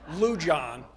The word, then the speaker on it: Lujan: fashion she you know changed that j to an h because all of her friends were having trouble pronouncing the lewd lujon kinda telling within weeks